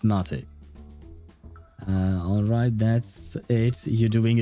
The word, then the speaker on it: mate: And could we get a pot of mate with mint, please? Yeah, so it's pronounced mate.